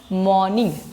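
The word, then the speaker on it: morning: देखो लिखते हैं मॉर्निंग लेकिन बोलते हैं मॉर्निंग। मॉर्निंग आर साइलेंट कर देते हैं।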